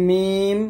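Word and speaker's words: ميم: তারপর হচ্ছে মিম বা ওয়াও। আগে বলছি ওয়াও দুই ঠোঁট গোল করিয়া বা দুই ঠোঁটের ভিজা জায়গা হইতে, মিম দুই ঠোঁটের শুকনো জায়গা হইতে উচ্চারিত হয়।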